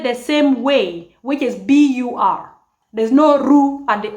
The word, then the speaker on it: bur: same way, which is B-U-R. There's no ru at the end, like in actually and Luo and the Luo. There's no ru. It's just bur, bur. Stop there. Bur, like bur.